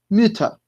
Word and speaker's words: Mütter: Y acá no decimos Mutter, sino que decimos Mütter. Mütter.